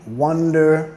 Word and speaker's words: wonder: Acentuando la primera sílaba y terminando con de pirata, de perro.